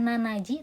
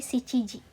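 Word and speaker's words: しちじ: Jadi jam 7 ini bukan nanaji tapi shichiji.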